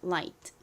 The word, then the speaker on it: light: light. 여기서 I가 I 소리 나고 GH는 이렇게 앞에 I가 오거나 아니면 뒤에 T가 있는 경우 묵음으로 소리가 나지 않습니다. 그리고 T가 T 소리 나서 IGHT가 IT 소리가 나는 거죠.